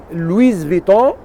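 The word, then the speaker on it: Louis Vuitton: يعني حبيت ما يخلوني لويز فيتون راهو في ايطاليا اسمه لويز فيتون الاس تتنطق في ايطاليا انا نعيش في ايطاليا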